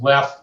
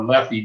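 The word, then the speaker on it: Leffe: that this beer here, pronounced Leff or Leffy, depending upon where you're from, was brewed by monks as far back as 1240.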